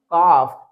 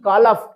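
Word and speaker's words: calf: तो देखिए जैसे ये वर्ड है सी ए एल एफ तो इसको हम क्या पढ़ेंगे? इसको रीड करेंगे हम काफ ना कि कालफ ऐसे रीड नहीं करना है। अदरवाइज ये रॉन्ग प्रोनाउंसिएशन होगा।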